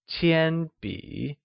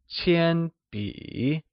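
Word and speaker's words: 铅笔: This is not a pencil becomesZhèbúshìzhīqiānbǐ , where Pencil translates to Qiānbǐ Qiānbǐ is pronounced with a high level tone on a and a falling rising tone on i, like Qiānbǐ Can you try and say the whole sentence?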